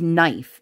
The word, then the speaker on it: knife: six-year-old like she was looking at the word I think it was knife and she's like can and I was like it's a silent k and she's like what